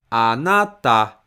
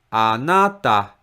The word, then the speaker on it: あなた: Word you, あなた has stress in the middle na. So the first mora is pronounced with low pitch, a. And the stressed mora is pronounced with high pitch, na. And the last mora is pronounced with low pitch, あなた, あなた.